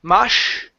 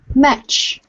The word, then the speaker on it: much: one here um much the CH sound instead of mush give me a much much good she hasn't spent